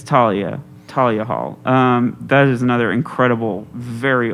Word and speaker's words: Thalia Hall: It's Thalia? H Okay. is silent. I got corrected on that. Oh, you did? Okay. It's Thalia Hall.